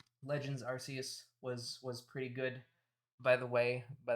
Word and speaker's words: Arceus: i am a staunch i am a staunch soft c supporter i believe in arceus uh supremacy okay arceus stans get out of here i know that arceus is technically the official pronunciation but that doesn't make